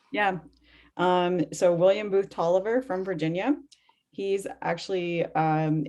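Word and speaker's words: Taliaferro: so when we were preparing for this i pronounced the name talafero and then i got the whole um it's tolliver so you basically hermione you know the part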